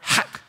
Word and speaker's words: Het: Het, or hek is actually how you say it, a season of anxiety.